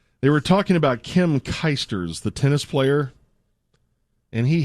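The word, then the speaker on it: Clijsters: I'm sick I don't she's Belgian and it's pronounced kers thought there was another tea in there all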